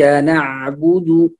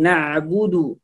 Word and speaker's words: نعبد: الحلق فنقول نع نع، وأيضا الباء هنا مضموم فنقول نعبد، والباء هنا ليس مفخما وإنما مرققا مضموما، فنقول نعبد نعبد نعبد